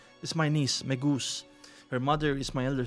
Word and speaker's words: Megose: It's not Megose, it's Megoose. It's Megoose for me.